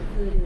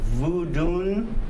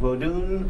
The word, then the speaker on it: Vodun: you pronounce it again you said Voodoo but it's vood it's EA IFA vodun v o d o n vodun or Voodoo usual spelling yes um that's not